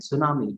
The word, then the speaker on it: tsunami: bur is silent it is be climb silent tsunami t is silent p l u m b e r